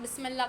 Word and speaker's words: Bismillah: Never children just write like till A, do not write the H. No, you pronounce it like Bismillah, lah, so you'll know.